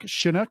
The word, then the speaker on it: Shunock: We're only speaking with Canadian-born Las Vegas legendary host, announcer, actor, and philanthropist Mark Shunock. Is that how you pronounce it, Mark? That's it. Mark Shunock works for me.